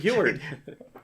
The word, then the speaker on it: Heward: It's how the audiobook pronounces it, Heward.